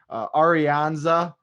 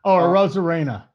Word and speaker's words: Arozarena: Arianza, I didn't pronounce that right. I know that. Arozarena. I was way off.